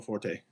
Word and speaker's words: Will Forte: No, it's Will Forte. You got it. Is Will Forte. Yeah, he pronounces it that way.